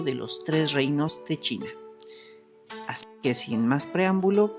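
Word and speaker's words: Qin: cambió su nombre a King Shiwang, que literalmente significa el primer emperador de Kin o pronunciado más adecuadamente Chin, ¿de donde viene el nombre de China?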